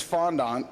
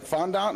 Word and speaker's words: fondant: that so this is fondant is it fondant or yeah fondant you know what they pronounce it both ways you know like vaser